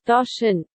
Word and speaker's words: Doshin: How the hell do you pronounce that? Doshin.